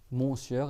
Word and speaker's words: monsieur: Mon sieur, et monsieur, on dit monsieur, mais on le prononce, en fait c'est mon sieur, ça veut dire mon seigneur, et madame, et ma seigneuresse, quoi.